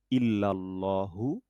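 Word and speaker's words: إلا: তাহলে লা ইলাহা ইল্লাল্লাহু। তাহলে ইল্লেল হবে না, ইল্লাল হবে।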